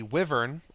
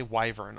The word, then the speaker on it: wyvern: false dragon there is the wyvern or a lot of people say wyvern i've always called it wyvern both of them are the accepted pronunciation neither of them is correct over and above the other so um the wyvern